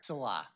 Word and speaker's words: Salah: Okay, and then hopefully we are saying your name right, because I've heard it pronounced different ways, so. I'm used to that. And what do you prefer? Salah.